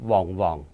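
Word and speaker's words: 黄黄: 于黄黄，那个客家话要念成旺旺。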